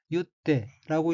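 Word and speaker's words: 結って: 다음 어휘는 한자가 맺을 결자이고 일본어로는 유떼라고 읽으며 유떼는 매다, 묶다, 머리를 따다는 뜻의 타동사 유의 태형으로 유떼는 매고, 묶고 란 뜻입니다.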